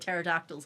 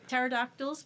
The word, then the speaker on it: pterodactyls: Stop explaining to me what pterodactyls are." But the P is silent, you see. So, it's pronounced Oh, here we go. Yeah. Yeah. So, what you probably don't know about pterodactyls because you said that you were a paleontologist.